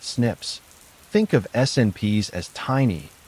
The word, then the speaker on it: SNPs: These algorithms compare hundreds of thousands of single nucleotide polymorphisms or SNPs pronounced SNIPS.